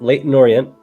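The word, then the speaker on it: Leyton Orient: gonna do that one Leighton Orient late in Orient that's correct that's a good pronunciation there yeah that was good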